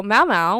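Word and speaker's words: Mau Mau: that I might not know them okay so Mao Mao which is spelled m-a-u space m-a-u refers to Mao Mao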